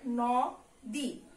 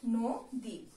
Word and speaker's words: নদী: তাহলে এই উচ্চারণটা যদি আমরা করি তাহলে কি হবে, নদী, তা কিন্তু না, এটার উচ্চারণ আমরা কি করি, আমরা এটার উচ্চারণ করি হলো নদী।